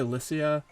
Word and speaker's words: Lycia: Everybody pronounces it differently. Some people say Lycia. I've always said Lycia. I don't know why. I'm going to stick with it until somebody tells me otherwise.